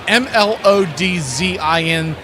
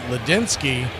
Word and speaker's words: Mlodzinski: As Carmen Mlodzinski, as it's been commonly mispronounced, it's Mlodzinski.